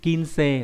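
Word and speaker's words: 金星: Tiếp theo là sao kim, kinsei là chữ kim và chữ tinh.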